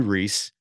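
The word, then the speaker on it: Rhys: Now Reese is spelled R-H-Y-S, so it's R-H-Y-S underscore Largent, L-A-R-G-E-N-T.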